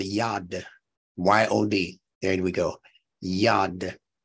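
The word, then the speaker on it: yod: There's a Hebrew letter called yad, Y-O-D, there we go, yad, that I believe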